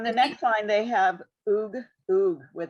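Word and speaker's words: וּ: So those together, it has to be as opposed to, so I don't think there's a case, Audrey, where the sharuk at the beginning is pronounced vu. It's always oo.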